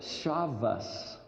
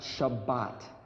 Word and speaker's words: Shabbat: And all of a sudden I realized, the letter Tav, the last letter, can be pronounced as either a T, a TH, or an S, which is why certain people who speak Hebrew call it Shabbos, not Shabbat. And if they think that